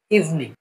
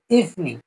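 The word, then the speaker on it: evening: ইংরেজিতে বলি আমরা গুড ইভনিং ইভনিং ঠিক আছে গুড ইভনিং ইভিনিং না গুড ইভনিং উচ্চারণটা শিখে নিবেন গুড ইভনিং ঠিক আছে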